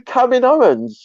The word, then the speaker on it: Kaminoans: Kaminoans or Kamain. Yep, not going to pronounce that. It's the Kaminoans.